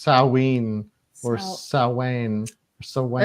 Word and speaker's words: Samhain: It's pronounced Samhain or Samhain or Samhain.